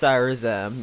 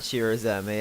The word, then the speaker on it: Cyrazem: It's pronounced Cyrazem, not Shirazeme. I was pronouncing it wrong, as it actually comes from Michael Cyra.